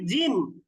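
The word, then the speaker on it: جيم: অতিরিক্ত টানবো না কিন্তু যখন আমরা বলছি জিম জিম লিখতে কিন্তু বাংলা দুইটা বর্ণ লাগে একটা হচ্ছে বর্গীয় জ আরেকটা হচ্ছে ম তাহলে জিমকে অবশ্যই আমরা টেনে উচ্চারণ করব জিম এরপরে যদি হা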